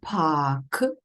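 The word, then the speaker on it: park: так само дивіться слово пак пак в українській в англійській мові пишуться однаково п а р к тільки в англійській а літера R не читається і Виходить так Так довгий звук а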